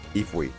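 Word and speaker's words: イーブイ: Ifui. Yep. Oh, That's how it's actually, pronounced in Japanese.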